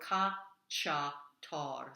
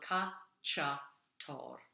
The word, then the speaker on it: cacciator: Al cacciator. So the CCIA is a ch sound. So vola in grembo. Al cacciator.